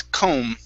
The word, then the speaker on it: comb: That B is silent. Okay, so instead of comb, it's comb.